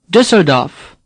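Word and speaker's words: Düsseldorf: do this now say dussard off the e is hardly pronounced the O in DAF is like the O in dot Mont DAF say DAF say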